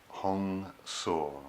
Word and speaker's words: Hong Sau: inhalation and exhalation with 2-seat syllable bridge mantras Hong saw which is pronounced as hecho ng sa w this mantra